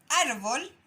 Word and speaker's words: árbol: Y árbol también se marca en la segunda sílaba, ¿ya?